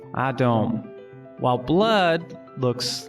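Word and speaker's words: אדום: red in hebrew looks like this and it's pronounced adom while blood looks like this and it's pronounced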